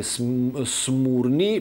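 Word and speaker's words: Σμύρνη: Izmir used to be known as Smyrna, or more exactly Smurni, because it's spelled through epsilon, that used to be U sound.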